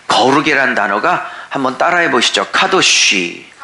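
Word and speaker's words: קדוש: 카도쉬. 이 카도쉬는 레위기에서 가장 중요한 단어인데, 이 카도쉬랑 발음이 조금 비슷하니까 잘 외워두세요.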